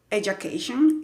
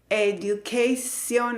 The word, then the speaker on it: education: Esta palabra que se pronuncia education, y si alguien te dice que se dice education or edu, something con la D, cambia, por si es tu profesor de inglés, por favor, cámbialo.